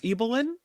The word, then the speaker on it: Ibelin: the remarkable story or the remarkable life of eelyn I say it right this time yes you